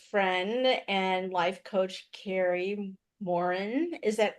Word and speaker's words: Morin: and life coach Kari Morin. Is that how you say it? Yes. I think my French Canadian relatives way back said Morin, but yeah, we've just always gone by Morin.